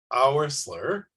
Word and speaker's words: Oursler: Queen could you beat that uh Dr arler Welcome to the tle R podcast oh my God you actually pronounced my name correctly thank you so much